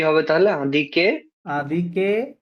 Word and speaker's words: indiquer: Indiquer l'heure ইন্দিকে না, এটা আদিকে কি হবে? আদিকে। হুম, হুম, আদিকে এই আইএনটা ঠিক হচ্ছে না আমার।